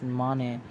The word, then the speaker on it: Mane: the once honest cop Namdev Mane, pronounced as Mane, teams up with Carlos' girlfriend Shania, who is on the lookout for hidden diamonds and facing bankruptcy.